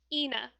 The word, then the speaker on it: Eithne: It's Eithne. Pronounced Ina. Ina.